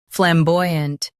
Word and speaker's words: flamboyant: Stress boy and keep unt soft. Flam. Boy. Unt. Flamboyant.